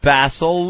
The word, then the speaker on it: Bassel: People assume Bassel. People assume Basil. It looks like Basil. Oh, Basil. I'm using the English pronunciation.